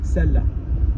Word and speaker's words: celle-là: That one there, celle hyphen la, with an accent on the A, celle-là.